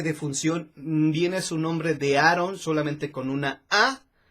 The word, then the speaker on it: Aaron: Él era Aaron, bueno, en México es Aarón, pero en Estados Unidos ya saben que se pronuncia Aaron Elvis.